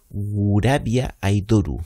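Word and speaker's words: グラビアアイドル: Ah, mira, aquí sale cómo se pronuncia. Gurabia Aidoru. Claro, la pronunciación japonesa.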